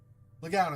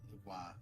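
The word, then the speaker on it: Le Guin: Legoun is, I think, how you normally say it, but Legoin, it would be the French pronunciation.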